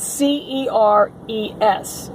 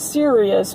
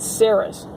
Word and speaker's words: Ceres: I think that's how you say it, Ceres, not Sirius, but Ceres.